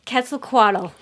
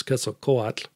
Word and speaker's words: Quetzalcoatl: The Aztec pronunciation is Quetzalcoatl, and I think my children are about the only ones that ever learned how to do it that way.